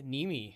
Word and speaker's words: Niemi: my last name's actually Niemi, if you would do like the Finnish Niemi. pronunciation, but we Americanized that a while ago, Copy.